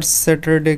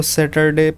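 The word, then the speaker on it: Saturday: बोलते थे पर अगर सैटरडे की बात करी जाए तो सेटरडे pronunciation is wrong सैटरडे अगस्त सही प्रनंसीएशन है सैटरडे सैटरडे में एक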